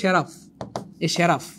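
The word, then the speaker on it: seraph: দেখেন এই যে শেরাফ, এই ওয়ার্ডটার উচ্চারণ হবে শেরাফ।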